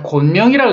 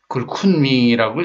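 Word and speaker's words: 昆明: 자, 곤명이라고 읽어지 그걸 쿤밍이라고 읽더라고요, 중국인들은.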